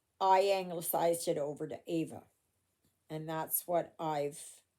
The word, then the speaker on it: Ava: So, oh, Rana, if you're watching this, um, yes, my name is Ava. Okay, not Eva, Ava. That's how I pronounce it.